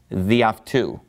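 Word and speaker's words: δι' αυτού: So it's just pronounced διαυτού, meaning by him.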